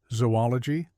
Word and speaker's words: zoology: However, the two O's should be separated as in cooperate even though no hyphen is used in the spelling to indicate such separation. Say zoologologist, zoology, zoological.